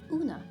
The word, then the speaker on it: Una: Una's a very nice name. Dun, dun, dun. Una. Because it's a long U sound, so it's not Una, it's Una.